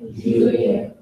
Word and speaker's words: juillet: E and two L's make a Y sound.